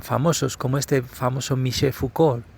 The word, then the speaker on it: Foucault: como este famoso Michel Foucault, creo que se pronuncia sin la LT del final, pues que ya estaban